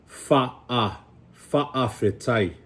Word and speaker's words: fa'afetai: And what it does, it sounded like a glottal stop, right? It's in the back of your throat. It's fa'afetai.